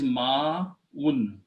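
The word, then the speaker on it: ماء: So the word is ma'un. Ma'un means water. Okay. Okay. First of all, there is a hamza. So alif before will be pronounced with a long mud.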